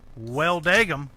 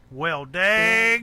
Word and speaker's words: Welldagum: like to call him, Welldagum. But that's obviously not how you say it. Welldagum. That's right. Got to put that twang on.